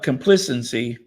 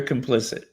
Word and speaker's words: complicit: say silence is complicit uh compcc is that how you no that's not how you say it if you're silent you're complicit yeah that's anyway that's